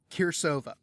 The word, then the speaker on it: Cirsova: here c i r s o v a kirova um I had to ask about the pronunciation but it's such a I've been so